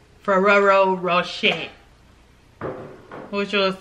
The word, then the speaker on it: Ferrero Rocher: Italian with French to say these with the pronunciation of their respective country of origin. Ferrero Rocher. What you gonna say? Y'all say Ferrero Cha Cha. Woo! Ferrero Rocher.